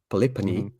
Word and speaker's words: Polypane: don't know so uh there is a Greek way you can pronounce it palipani okay yeah but I don't use that okay yeah that makes